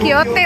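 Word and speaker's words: Don Quijote: And lastly we have toilet over keren banget don Kyote bacanya bukan Don Kyotti inan the famous dulu radio station kayak Rnya gitu loh.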